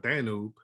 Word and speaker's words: Danube: Then we have the Danube River, or some people pronounce it Danube, which is the second largest river in all of Europe.